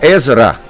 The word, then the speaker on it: Ezra: Então, Ezra é a pronúncia correta do nome, é a transliteração correta.